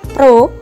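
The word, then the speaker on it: ρ: Ini lambang seperti huruf P tapi agak miring, ini bacanya Rho, G, dan H.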